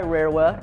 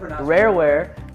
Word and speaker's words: Rareware: was uh developed by rarowa uh sorry i misspelled i mispronounced that rareware uh super nintendo released